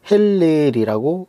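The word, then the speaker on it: הילל: 왜냐면 히브리어에서 이것을 할 아니 헬레이라고 이렇게 발음을 하는데이 말의 의미는 밝게 비치는 것 새벽별로 어 해석할 수 있습니다.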